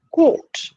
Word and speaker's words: caught: the past tense of catch is to be pronounced not as shortcut but as long caught the police caught him red-handed right it's a